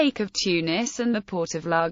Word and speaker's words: Tunis: Etymology: Tunis is the transcription of the Tunisian Arabic name, which can be pronounced as Tunis, Tunis, or Tunis.